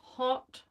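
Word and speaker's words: haute: to answer your question, that was hot, H-A-U-T-E. Let's see, where are we? Hot red. I think that's in frame. Hot red. And it is a definite, like, Hunt's tomato paste red. But it's spelled H-A-U-T-E.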